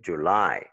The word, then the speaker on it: July: Tu ne peux pas dire « July » parce que l'accent, c'est sur la deuxième syllabe. Tu dois dire « July ». Si tu dis « July », ça fait mal à l'oreille pour un natif.